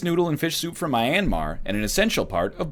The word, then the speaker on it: Myanmar: you get the idea how's it pronounced it's not my anmar it's Myanmar me and ma ma general gist it doesn't mean mrs.